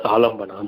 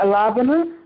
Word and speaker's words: alambana: So that's alambana, the person, the substratum where it's being experienced. Yeah, how do you say alabana? How do you say? It's alambana. Alambana.